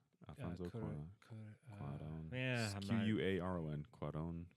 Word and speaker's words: Cuarón: So Alfonso Cuarón, I don't pronounce his last name. Alfonso Cuarón. yeah, Cuaron. Cuarón.